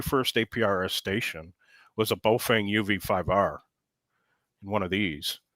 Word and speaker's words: Baofeng: Whenever he's pronouncing Baofeng, Boofeng, whatever, you know, it's Fang. Baofeng.